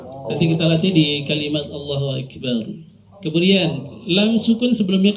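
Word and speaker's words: الله: Ya, jadi kalau membaca Allah jangan Allah. Allah tidak, langsung Allah, tebal. Allah. Ya. Nanti kita latih di kalimat Allahu Akbar.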